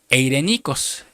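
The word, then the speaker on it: εἰρηνικός: Esta palabra pacífica viene del griego G1516 de la Concordancia Strong, que se pronuncia eirenikos, que quiere decir una mente saludable.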